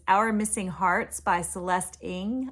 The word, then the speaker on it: Ng: And that book was Our Missing Hearts by Celeste Ng. I think it's Ng is how it's pronounced. It's spelled Ng.